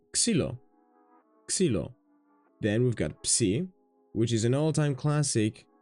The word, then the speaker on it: Psi: Psi, the same example. P, S, P, S, Ps. Theta is a little bit more tricky if you're not used to it.